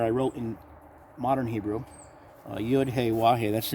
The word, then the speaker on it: YaH'oooah: YaH'oooah. YaH'oooah. That's the pronunciation of the Almighty's name. Not Yehovah, like some false prophets are teaching. There's no such name, Yehovah, in any part of Scriptures.